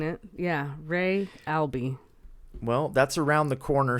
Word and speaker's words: Re Albi: I was pronouncing it. Yeah, Ray Albi.